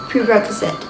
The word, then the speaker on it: prerequisite: can exist what happened the stress is on the second syllable prerequisite discipline is a prerequisite